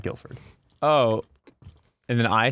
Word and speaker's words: Guildford: you pronounce that word Guilford Guilford the D is silent the D is silent